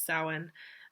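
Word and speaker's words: Samhain: to actually say it so it is sowing um it's spelled s-a-m -h-a-i-n I think um it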